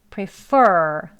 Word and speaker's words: prefer: 여기는 보시면 이음절인데요. 강세가 앞에 있지 않고 뒤에 있습니다. 그래서 prefer, 할 때 여기를 입술 내밀고 혀를 많이 당겨서 발음해 주셔야 돼요.